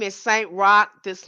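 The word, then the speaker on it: Roch: Rock. This name is spelled uh R O C H. R O C H but pronounced R O C K.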